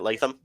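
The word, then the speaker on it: Latham: JC leam that's how you say it right leam yep um give me The Scouting Report um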